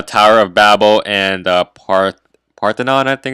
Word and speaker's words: Parthenon: I have the Tower of Babel and part Parthenon I think it's pronounced I choose goddesses that correspond to the